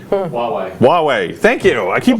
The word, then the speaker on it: Huawei: so here I'm gonna miss Bernette speaking of mispronunciation let's talk about who I or way Huawei thank you know I keep doing that so